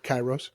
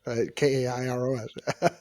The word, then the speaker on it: Kairos: Pronounced it right? Kairos, Kairos.